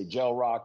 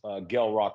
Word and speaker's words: Gel Roc: they don't know me they say Jael Rock and you know but the formal introduction to everybody is g rock with a hard G like graffiti you know what I'm